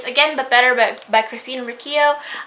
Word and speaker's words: Riccio: I realize I've been mispronouncing her name, and I'm really, really sorry, Christine, or to whoever of her friends might see this video or my previous videos in the future. But it's Riccio and not Riccio. It's fine.